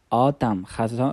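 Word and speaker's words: autumn: شامل کدام فصل میشه آتم خزان میشه ببینی بچ در تلفظ تلفظ تلفظ آتم دقت کنی کلمه ان حرف ان ببخشین حرف ان چی هسته سنت یا بی صدا هتم ان تلفظ نمیشه خب باز دسمبر که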